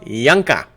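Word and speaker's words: Juncker: Joe it's not pronounced junk J Claud junker it's junker with the J becomes a y kind of like Julio Julio Julio okay jeanclaude Yanka like Yan Yankovic maybe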